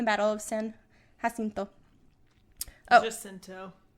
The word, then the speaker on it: Jacinto: Jacinto.